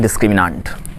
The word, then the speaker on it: discriminant: आइए बच्चों, अब स्टार्ट करते हैं डिस्क्रिमिनांट। सर, कई लोग डिस्क्रिमिनेंट बोलते हैं, कुछ लोग डिस्क्रिमिनांट बोलते हैं, तो प्रोनाउंसिएशन में ज़्यादा बहस नहीं करना है, क्या बोलेंगे। ठीक, आपकी मर्ज़ी है डिस्क्रिमिनांट बोलिए, आपकी मर्ज़ी है डिस्क्रिमिनेंट बोलिए।